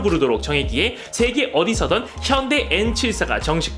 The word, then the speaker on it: N74: 이름을 영어식으로 읽을 때도 술자 7사를 74가 아닌 한글 발음 74로 부르도록 정했기에 세계 어디서든 현대 N74가 정식 발음이죠.